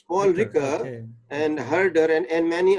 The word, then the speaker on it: Ricoeur: Some French scholar, Raishior, I think Raishior, to understand the Quran. Well, you see, no, it's not right. It is Paul Ricoeur. It's Paul Ricoeur, okay.